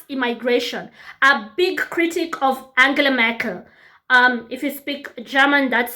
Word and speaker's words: Angela Merkel: He was strongly against mass immigration, a big critic of Angela Merkel. If you speak German, that's how we pronounce her name out here.